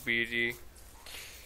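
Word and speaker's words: Beady: know that oh oh bd if you if you're wondering how i pronounce my cats how how one would spell my cat's name was b-e-a-d-y b-d like b and then d don't ask i was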